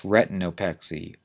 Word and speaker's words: retinopexy: the surgical reattachment of a detached retina that's retinopexy re e t i n o p x